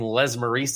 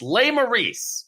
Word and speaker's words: Lesmerises: shans versus the fighting Les maric's it's not actually how to say my name why would I mispronounce my name on purpose to confuse people even more it's lay maice it's French fighting J Rogers and